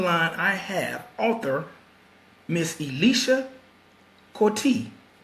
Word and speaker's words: Eisha Coutee: Yes, it's Eisha Coutee. Eisha Coutee. Yes. Okay. Yes, the E is silent, no L. Eisha.